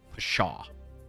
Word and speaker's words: pshaw: where it was like Pshaw. That one was nuts. I had the 3 middle letters. It was S-H-A. And I had a lot of other ones. The silent P one.